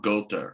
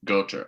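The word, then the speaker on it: Göth: role is as uh among golda or ghost goater i think it's goater as as like i mean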